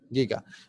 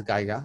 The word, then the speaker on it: giga: the pronunciation okay so yeah Giga but some people can also refer to this as Geiger it can differ from person to person so it's Giga anyway so upper limited the